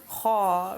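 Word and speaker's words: خاء: Kha is a heavy letter. So it's a letter that when you pronounce it, you have to make a round mouth rather than a smiley face. Kha, right? As opposed to kha, you would maybe your mouth would be a little wider. Kha is pronounced with a round mouth.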